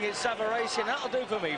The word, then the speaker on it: Savarese: Still on the comeback trail against Lou Savari as we will call him. The Italians behind us are pronouncing it Savari. And that'll do for me, Frank. Um, Savaris, I believe, is the American pronunciation, but we won't worry about that.